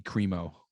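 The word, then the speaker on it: Crimo: a blacks for trump no no no bobby cremo that's how you pronounce his name the white man well you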